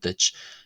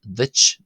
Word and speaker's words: duit: The second D in ditch ditch is adjacent to the broad vowel U and the T at the end of ditch ditch is adjacent to the slender vowel I.